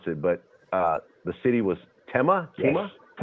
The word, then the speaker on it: Tema: And I want to make sure I don't mispronounce it, but the city was Tema? Yes. Tema.